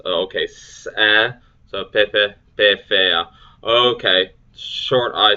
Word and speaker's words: pepe: Pepe, butterfly or moth. Both vowels sounded as in bet. Long E sound. Pefea. A sounds, okay, so pepe, pefea.